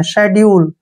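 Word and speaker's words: schedule: एस के बाद फिर से क्या आ गया सी इसको छोड़ देंगे ठीक है ना एस एच से हो गया श और ई से की मात्रा हो गया डी से ड और यू का उच्चारण यू करेंगे और एल से ले और ई का उच्चारण हम नहीं करते हैं शेड्यूल शेड्यूल क्या होता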